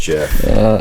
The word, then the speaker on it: Jif: Like GIF, but with a J. Pronounced Jif.